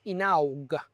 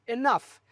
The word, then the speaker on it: enough: And so for me, when I saw the word Enough, I thought, oh, this is pronounced inaug, right? But that was enough. So I said inaug, and of course, No, that was exactly my teacher's reaction.